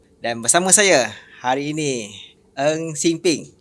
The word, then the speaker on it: Ng Sing Phing: Dan bersama saya hari ini Eng Sing Ping. Ya, betul kan? Pronounce tu. Panggil apa? Betul.